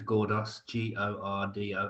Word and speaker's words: Gordos: So for your benefit, because I didn't spell it out, Surname is Gordos, Gordos for sugar.